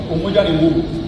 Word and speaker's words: Umoja ni nguvu: We have a few things like, how do you say in Kiswahili, our unity is our strength. Umoja ni nguvu. Yes. Umoja ni nguvu. Is that correct? You got it.